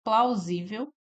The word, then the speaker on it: plausível: No item D, nós temos plausível. plaível. E aqui é o nosso gabarito, tá? Letra D. Plausível é uma paroxítona.